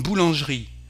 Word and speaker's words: boulangerie: Une boulangerie, jeri, une boulangerie, bakery, une boulangerie. Usually words ending in eri, we don't pronounce the E.